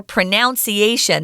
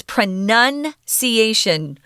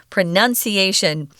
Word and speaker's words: pronunciation: word pronunciation you have to remember it's no longer pronunciation that's incorrect it's pronunciation pronunciation i even hear americans mispronounce this so sometimes